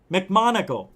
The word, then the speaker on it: McMoneagle: How do you say his name? Joe McMoneagle. That guy, Joe McMoneagle.